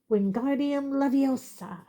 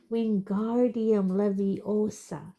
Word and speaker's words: Wingardium Leviosa: Wingardium Leviosa, he shouted, waving his long arms like a windmill. You're saying it wrong. Harry heard Hermione snap. It's Wingardium Leviosa. Make the gar nice and long.